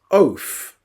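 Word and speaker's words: אוֹת: And the word sign in Hebrew is pronounced oath.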